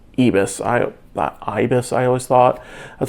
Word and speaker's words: ibis: I actually had to look up the pronunciation. It is ibis.